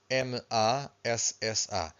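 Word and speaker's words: maçãs: don't forget that and this word here is mass so we have the till the wave on top of the a final syllable so we stress the final syllable so this means apples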